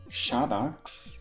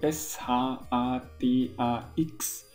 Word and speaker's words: Shadax: genau zu sein der heißt lass mich lesen shadax ich glaube ich habe es richtig ausgesprochen also s h a d a x shadax der Magier und er ist auf einer